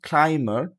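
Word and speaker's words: climber: এরপরে দেখেন এমবি টা যদি মাঝেও থাকে তাহলেও বি টা উচ্চারিত হবে না। যেমন বি ও এম বিই আর বোমার বোমার। ওকে সি এল আই এমবি আর ক্লাইমার। ক্লাইমার এখানে কিন্তু বিটা উচ্চারিত হয়নি।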